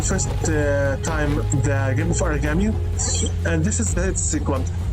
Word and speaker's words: Aragami: When I first heard about this game, since the poor pronunciating, I thought it's written like origami. No, it's Aragami, not origami.